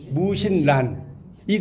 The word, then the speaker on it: 무신란: 293 원시문학 2번 자기 중심주의 3번 무신란이 란 이거 난이라고 읽으면 안 돼. 란이에요. 란.